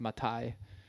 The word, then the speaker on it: Mathai: Mathai. Mathai. My mom's maiden name is Schlichting. That's way more German. Way more German. I guess Mathai is pronounced Matai.